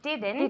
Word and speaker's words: didn't: she she didn't work the T at the end she didn't didn't work one more time yesterday